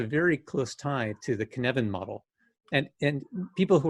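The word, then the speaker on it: Cynefin: of welsh i know you say the word kevin and you say no in the middle so it's that's how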